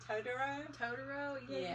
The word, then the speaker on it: Totoro: Totoro?